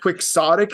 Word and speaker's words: quixotic: So- Which I also just want to say, quixotic is one of those words that I feel like needs to be pronounced differently.